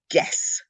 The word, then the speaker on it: guess: But in some cases, we don't even acknowledge the U. So guess. It's G-U-E-S-S, but it's guess.